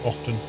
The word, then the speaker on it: often: or English not English don't pronounce the T and often why not wait how can you say often without saying the T